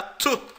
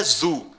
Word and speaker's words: zu: Você pronuncia assim, tá? Tu. Tu, não é zu, é tu.